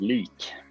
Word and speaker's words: Lik: you so uh your other band is it lick or like how do i pronounce that one uh it's uh pronounced leak leak there you go okay um because november